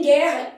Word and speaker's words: guerra: Em guerra, esse U não é pronunciado.